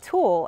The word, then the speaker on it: tulle: other one, she said, come look at this one under the tool. And I was like, tool, as in like T-O-O-L? And she was like, no, no, T-U-L-L-E. I think that's the way it's spelled.